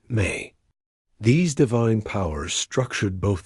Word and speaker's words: me: The Sumerianss believed that the gods had set up a fundamental cosmic principle called me pronounced may.